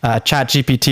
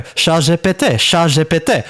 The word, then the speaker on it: ChatGPT: Because ChatGPT is pronounced ChatGPT, which sounds exactly like a French phrase.